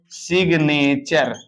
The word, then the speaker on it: signature: अगर एन के बाद कोई शब्द रहेगा तो जी का उच्चारण होने लगेगा। आपको दिखा देते हैं एक नियम से, SIGNATURE। तो गाइज बताओ इसको क्या पढ़ेंगे? तो आप कहेंगे इसको पढ़ेंगे सिग्नेचर। क्या पढ़ेंगे?